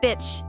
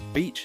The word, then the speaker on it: beach: Unfortunately, people sometimes say, bitch, and that can be very embarrassing. So remember, beach has a long E sound.